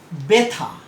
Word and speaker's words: ব্যথা: যেমন উদাহরণ হিসেবে আমরা বলতে পারি যে ব্যথা। দেখো বতে একটা শ্বাসাঘাত পড়ছে, সাধারণত ব আমরা যেভাবে বলি সেভাবে বলছি না, এটাতে বতে একটা আঘাত দিচ্ছি।